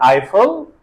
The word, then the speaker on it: Eiffel: neither in either and also in the word Eiffel EI is pronounced I and the fourth sound